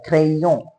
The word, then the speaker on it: crayon: The sound of Y is E. A crayon.